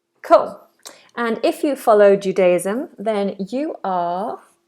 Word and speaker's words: Judaism: J. This is a sound that a lot of people struggle with. It's like a D, d, d, d, but a little bit more of the tongue is making contact with the roof of the mouth. J, j, j. Jew, like a little W, Judaism. Z sound. Judaism, Judaism, Judaism.